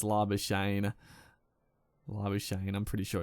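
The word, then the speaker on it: Labuschagne: it, and yeah, it's Labashane, I'm pretty sure it's just, yeah, doesn't need any sort of fanciness at the end of it, like I kept doing, but he's doing very nicely.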